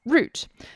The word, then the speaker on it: route: little bit awkward because in british english we pronounce root as in r-o-u-t-e as root but that can also sound like root as in r o o t so from now on i'm actually going to use the american pronunciation which is very odd